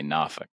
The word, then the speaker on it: Norfolk: You say Norfolk.